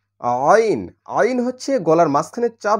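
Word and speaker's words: ع: এর কোন শীষ যেন না আসে তাহলে জী আইন আইন হচ্ছে গলার মাঝখানে চাপ দিয়ে উচ্চারণ করতে হয় গলার মাঝখান থেকে উচ্চারণ হয় তাহলে আইন এটা পাতলা হরফ সমস্যা নাই তাহলে আইন জবর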